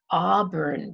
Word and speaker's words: auburn: auburn dog auburn dog in this case a u ah makes a same sound as olive auburn auburn dog so sometimes the a and u together make the ah sound like auburn and dog brown cow when you